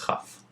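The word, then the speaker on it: כ: A kaf with a dagesh sounds like I taught you, kaf, and the kaf without a dagesh is pronounced with a cha sound and is called chaf.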